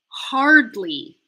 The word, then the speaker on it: hardly: saying hardly or hard you're gonna need to finish the r first before doing any sounds that come after it so if you're saying hard like hard like with the British kind of accent with no R sound you're going to want to pretend that hard is a two-syllable word now where the first syllable finishes on R and the next syllable starts with the D so instead of hard